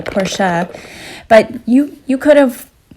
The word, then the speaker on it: Porsche: know you'd rather have the Porsche porsa I should say as a German teacher shame on me for not pronouncing it the right way porsa but you you could